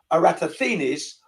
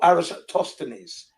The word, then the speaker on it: Eratosthenes: he's talking about this name can be pronounced two ways. One is Eratosthenes or Eratosthenes.